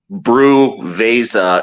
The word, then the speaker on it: Brewveza: It's spelled brew. And then Veza. So it's like Brewveza.